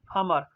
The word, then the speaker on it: امر: اس پہ زبر ہے۔ امر، الف کے اوپر یعنی حمزہ یا حمزہ، جب عربی میں جب الف کے اوپر کیا ہوتا ہے حرکت آ جاتی ہے، حرکات، تو پھر کیا ہو اس کو حمزہ کہتے ہیں۔ الف کے اوپر زبر ہے، میم کے اوپر زبر اور را سکون کے ہاتھ میں۔ آخرت، الف کے اوپر